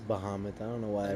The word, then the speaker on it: Bahamut: witnessing a clash between Bahamas and Bahamut it is not to be yeah because there's no e in it I guess it is Bahamut I don't know why